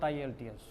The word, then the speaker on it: IELTS: So, we have to pronounce it IELTS, not IELTS.